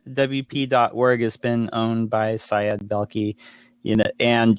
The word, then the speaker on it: Syed Balkhi: Can you pronounce the gentleman's name? Syed Balkhi. Balkhi. Yeah. Syed Balkhi.